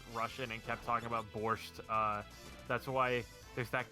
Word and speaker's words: borscht: chat saying kept saying you don't see the tea and borscht which apparently that is one pronunciation of it the other one is you do pronounce the t the only non horny